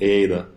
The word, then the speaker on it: Aada: wanting to ask um how do you pronounce it is it just Ada no actually we prefer it to be called Ada it's it's how it's it was initially started to be and it's not double Ada it's not to say